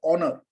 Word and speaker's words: honor: You selected the word honor. Select the word honor. Can somebody, you all voted yesterday, tell me why you selected the word honor? Because H is silent.